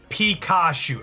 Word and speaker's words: Pikachu: written is it thega oh it's piku Pikachu okay that makes sense I've been saying it wrong I apologize it'll be Pikachu from now on I apprec I appreciate